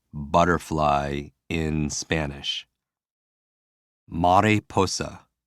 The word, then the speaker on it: mariposa: Mariposa. Mariposa. For me, I hear Mary posing.